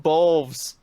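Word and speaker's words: Beoulve: Her last name is pronounced Bolves.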